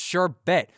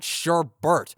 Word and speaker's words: Sherbet: Yes, it's pronounced Sherbet, not Sherbet.